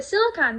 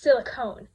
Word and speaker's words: silicon: But I had a silicon book, and people would always be like, "That's not a thing. It's silicone." And that's why I mispronounced it before the episode, is because I got them mixed up after that because people would call it silicone instead of silicon, and then I just